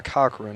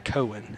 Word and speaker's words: Cochran: to make a correction I've been pronouncing it wrong all night uh number 41 Tai Cochran I've been saying Tai Cohen as an aan Cohen